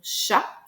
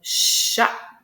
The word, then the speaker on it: chat: Donc dans le mot chat, j'ai une seule syllabe. Et attention, j'ai deux phonemil ne faut pas oublier que le ch qu'on connaît euh c'est un seul son hein, parce que l'enfant